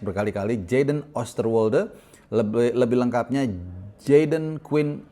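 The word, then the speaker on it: Oosterwolde: akan bisa membantu kita yaitu Jaden Osterwe. Nah, bacanya seperti itu ya. Tadi gua udah cek berkali-kali. Jaden Osterwe. Lebih lebih lengkapnya Jaden Queen Oster Wolde.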